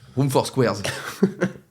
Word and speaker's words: Room for Squares: Il faut pas le prononcer Room for mieux que ça. Squares. Room for Squares, de John Mayer. Tu le prononces pas comme ça, les gens comprennent pas.